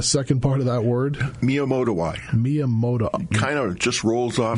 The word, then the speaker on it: Miyamotoi: Now, this last one you mentioned, and I can pronounce Borrelia, but give us the second part of that word. Miyamotoi. Kind of just rolls off the tongue. Miyamotoi.